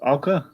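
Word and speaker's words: OWCA: How do you pronounce it, Jacob? The spy group, Alka.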